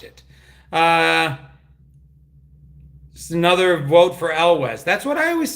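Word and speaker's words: Elwes: It's pronounced Elwez. You know what? I always pronounced it that way too, Kevin. And somebody corrected me. I thought it was Carrie Elwez. And I pronounced it Elwez. And I've always pronounced it Elwez. And somebody goes, no, it's Yules.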